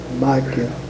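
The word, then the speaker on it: Mikal: That's that's pronounced there about like that. Micah.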